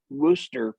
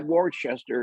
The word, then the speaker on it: Worcester: You said Worcester properly. If you Oh, look yeah. at how it's spelled, it would be Yeah. Worcester or something like that.